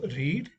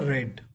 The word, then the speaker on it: read: i ate i read though the spelling is same we pronounce it in different way so in present tense it is read and in the past is it's a red i loved okay a